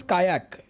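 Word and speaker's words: Kaajak: We pronounce it एज कायाक, KAAYAK.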